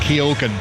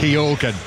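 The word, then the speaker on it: Keoghan: left hand side yeah I've now got it Keogan that's the one Keogan yeah that's why I was giving you a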